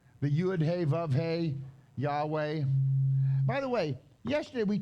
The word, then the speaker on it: Yahweh: If you put a V in it, it's Yehovah. If you pronounce the Vav as a V. If you pronounce the Vav as a W, it would be Yahweh. Okay? It's not Jehovah ever.